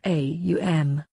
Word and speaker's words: Om: A, U and M, these 3 syllables constitute the body Om or Aum.